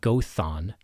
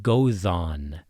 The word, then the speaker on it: Góðan: This is one of the biggest mistakes beginners and people new to learning Icelandic make is devoicing the eth. So it's not Góthan but Góðan, like the th in the or though. So Góðan daginn.